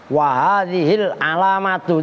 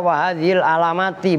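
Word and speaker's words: وهذه العلامةُ: Wahadhil alamatu itu bacanya begitu. Sering ada yang baca wahadhil alamati, bukan. Karena itu mubtada, maka alamatu itu bukan mudhof ilaih, tapi musyar dan musyar ilaih.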